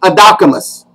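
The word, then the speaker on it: ἀδόκιμος: Now, over in the Vine's Expository Dictionary of New Testament Words, the word that is employed is an adjective, and it's pronounced adocimus.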